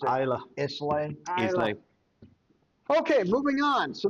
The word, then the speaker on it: Islay: Isla when I pronounced it Isla. Islay.